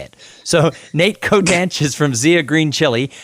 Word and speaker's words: Cotanch: say your last name it's pronounced coat an coat anch and the reason I looked at that and said I'm gonna let him say it so Nate code ranch is from Zia green